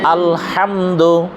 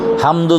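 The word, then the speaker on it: الحمد: রাহমানির রাহিম আলহামদুলিল্লাহি রাব্বিল আলামিন আলহামদুলিল্লাহি রাব্বিল আলামিন আলহামদু আলহামদু হামদু যেন না হয় আলহামদু আলহামদু গলার মাঝখান থেকে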